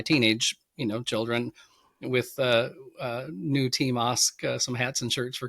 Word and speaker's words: Ask: In fact, years ago for Christmas, I had my last name is actually pronounced Osk. My heritage is Norwegian. There's a town in Norway named Osk, but I had Team